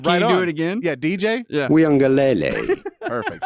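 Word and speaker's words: Uiagalelei: which I've really worked on the pronounce the pronunciation of the name go for it okay so his name is DJ mhm weele that's me saying it wow you do it again yeah DJ weele perfect say it right every time when when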